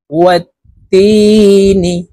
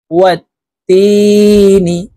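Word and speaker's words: وَالتِّينِ: ওয়াত্তিনি, তাসদীদওয়ালা হরফ দুইবার উচ্চারণ হবে, একবার পূর্বের হরকতের সঙ্গে আরেকবার নিজ হরকতের উচ্চারণ হবে।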